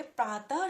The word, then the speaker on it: प्रातः: प्रातः, तो लास्ट में आपको ह की आवाज आ रही है।